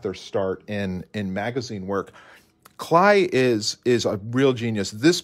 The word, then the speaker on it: Kley: And for many years, I called him Heinrich Kley. But Kley would be how we pronounce his name.